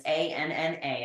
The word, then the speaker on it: Anna: Yep, and it's ANNA. I know it's pronounced Anna, like Princess Anna from Frozen.